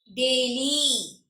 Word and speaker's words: daily: y sounds like e y as e when does y sounds like e it should be a longer word or with multiple syllables multiple syllables so for example daily daily it is a double